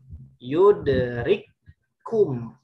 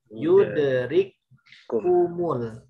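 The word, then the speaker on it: يدرككم: Baik, jadi bacanya yang di garis bawah yudrikum, yudrikumul. Jadi bukan yudrikum, tapi yudrik. Langsung masuk ke kaf yang kedua.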